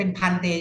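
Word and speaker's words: ภนฺเต: ได้ บัน บัน เต เรา ออก เสียง เป็น พันเต เฉย ๆ นะ ครับ พันเต ออก เสียง เป็น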